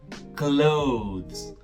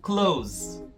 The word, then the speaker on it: clothes: Só que no inglês do dia a dia, essa pronúncia do TH aí acabou morrendo. Então fica uma coisa como close, close.